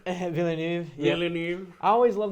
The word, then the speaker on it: Villeneuve: Denis Villeneuve. That sounds as good as anything. Yeah. Villeneuve. Villeneuve.